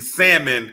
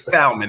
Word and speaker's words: salmon: let me say this the l in salmon is silent okay i want everybody